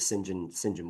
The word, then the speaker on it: St John: I mean, we're friends, but I get called all kinds of names, but Sinjin works fine. Yeah, I was gonna, it is spelled ST John John, and Yeah.